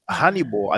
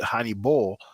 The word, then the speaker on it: Hannibal: very long time but hanibal at the end we have the ba'al you know in english we pronounce it honey ball uh well honey but basically it's ba'al at the end so what does hannibal